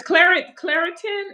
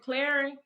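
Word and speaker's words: Clarins: Is Claritin? Is that a good product? Skin product? Am I Cla- saying it right? Clarin.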